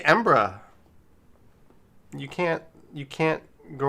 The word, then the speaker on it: Edinburgh: we go i'm gonna say it like a local it's embra embra no it's ambra we have the official uh edinburgh says rampification they say embra you can't you can't